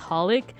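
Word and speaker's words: xxxHolic: how you pronounce it I heard that it's pronounced holic and the triple X is supposed to be like uh like a what's it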